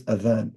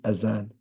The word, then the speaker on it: adhan: In Arabic, it is adhan. In English, it is azan. Why is it azan? Because it comes from people pronouncing it incorrectly.